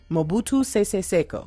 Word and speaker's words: Mobutu Sese Seko: Mobutu Sese Seko, which is exactly what I thought I was going to say. So that's actually great. So now let's look at Mobutu Sese Seko and Charles Taylor.